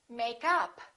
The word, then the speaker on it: makeup: And if it's a noun, we stress the first part. For example, make up, or I'm wearing makeup. I'd like to buy some new makeup.